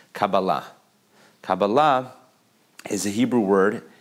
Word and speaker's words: Kabbalah: tell you that Hebrew the traditional Hebrew way of pronouncing the word is Kabbalah Kabalah is a Hebrew